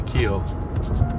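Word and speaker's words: Kiln: It's spelled K-I-L-N, but everybody around here pronounces it the kill.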